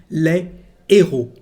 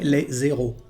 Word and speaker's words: héros: Again, you remember that this letter is an unplugged one, so there is no liaison between the two words, and the correct pronunciation is les héros. Les héros. We can't say les zéros.